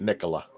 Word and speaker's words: Nicola: And just in case for people out there, and I'm not trying to correct you, Gadget, but she pronounces it Nicola.